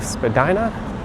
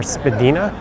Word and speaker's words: Spadina: we'll keep going to Spadina or Spedina. It's a point of contention. how to pronounce that street name.